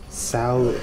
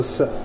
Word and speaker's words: Tso: be having Oriental, General Sal Chow. I don't even Sal. General So, yo, that shit, it's spelled TSO. Yeah, I'd be like, there's some words that the T is silent, or like we say knife, the K is silent.